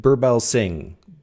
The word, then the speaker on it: Birbalsingh: She's uh Katherine Burbell Singh. Burbell Singh, Britain's strictest head mistress, says no one else dares to say about raising children.